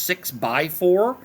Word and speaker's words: 6x4: When it says 6x4, that's pronounced 6 by 4, and so we're just